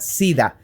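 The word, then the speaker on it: siddha: se la considera una sida como como así literal suena suena como la enfermedad pero se escribe s i d d h a una sida que es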